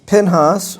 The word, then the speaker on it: Pinhas: 25 an individual um whose name is Pinhas or we may pronounce it as Phineas and we're told in Numbers chapter 25:7 that he is a son of Eleazar.